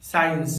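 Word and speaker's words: science: जब letter S के बाद सी आता है तो लेटर सी साइलेंट होता है, जैसे सीन साइंस muscle disciple scenario.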